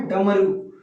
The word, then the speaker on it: डमरू: लिखना है सड़क और इसको लिखना है डमरू अब इसको पढा मैं डमरू अगर ऐसे मैं लिख दे रहा हूं तो ममरू ममरू तो गलत हो जाएगा तो इसमें दो गुण